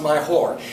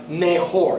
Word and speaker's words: mejor: LS mayoras Chas be careful there is not pronounced myor it's pronounced meor everybody repeat meor meor good so LS meor